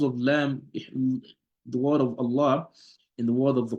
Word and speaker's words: الله: So whenever the word Allah, whenever it's the silent lam, the silent lam of the word Allah is being preceded by a fatha or a dhamma, right? So it will be pronounced with a tafkheem.